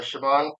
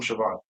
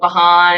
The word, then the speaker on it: Siobhan: It is not bahan, it's not. It's not chevron. It is shon.